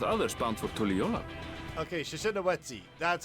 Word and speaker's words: Shishinawetsi: Okay, Shishinawetsi. That's how you pronounce it.